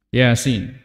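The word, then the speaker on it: يس: Rasulullah Sallallahu Alaihi Wasallam Yasin perhatikan ini disebut dengan huruf muqatah huruf yang terputus-putus cara membacanya menyebutkan nama hurufnya ya Sin huruf ya dengan Sin Nun Q Alif Lam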